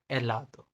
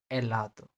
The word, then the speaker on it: helado: जब भी स्पेनिश के अंदर h दिखे तो आपको उसे प्रोनाउंस ही नहीं करना, जैसे helado, helado, hijo, hijo, ओला, ओला के अंदर सिर्फ हम ओला कहते हैं, हम एच नहीं बोलते। ओला, स्पेनिश में एच का साउंड नहीं है।